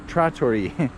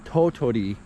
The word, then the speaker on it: Tottori: do totally sand dunes not uh tori like i was saying before a couple videos before i was saying it wrong it's totori prefecture so let's check this